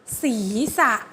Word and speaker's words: ศีรษะ: สอง คือ คำ ว่า ศีรษะ อ่าน ว่า ศีรษะ ก็ คือ สอง อีก สี ไม่ ได้ อ่าน เหมือน คำเขียน คำ เขียน มัน คือ ศ. รอ อีก สี แต่ คำ อ่าน มัน จะ อ่าน แค่ 2 e's สี ธรรมดา เห็น ไหม